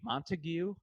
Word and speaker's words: Montague: But it's like if you phonetically did it, it would be Montague.